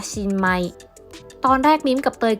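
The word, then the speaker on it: 新米: ปี นี้ เลย ค่ะ ข้าว ใหม่ ภาษา ญี่ปุ่น จะ ออก เสียง ว่า shinmai ตอน แรก มิ้ม กับ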